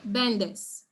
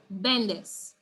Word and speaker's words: vendes: in cuentran vendes okay bendes so even though the word has two syllables still has a second to last syllable which is actually the first which is ben so bendes all right now let